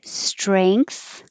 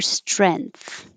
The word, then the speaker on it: strength: the same genes this you can say strength or strength with an a or an e so you can